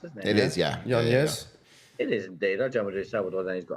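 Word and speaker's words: Yanez: come up to against Adrian janz no that's right Yan apparently is the the right pronunciation which found out last fight um super he's a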